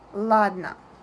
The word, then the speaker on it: ладно: We don't pronounce every sound separately like ладно. We put our tongue up and we make a pause, we make the sound a bit longer and we move to n sound.